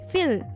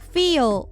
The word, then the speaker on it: feel: 예를 들어서 feel 이라는 단어의 경우 단순히 feel 이렇게 발음을 하는 게 아니라 feel 이렇게 L 처리 발음을 끝에 확실히 해주셔야 합니다.